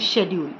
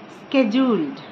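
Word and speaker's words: schedule: The first word I want to tell you that शेड्यूल, इट is very wrongly pronounced as शेड्यूल। इसको शेड्यूल नहीं बोलते हैं, इसको बोलते हैं स्केड्यूल्ड, स्केड्यूल्ड।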